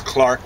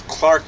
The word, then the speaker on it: Clerk: what I can gathers James Clark Maxwell is spelled Clerk Maxwell but James Clark Maxwell maybe about uh 1860.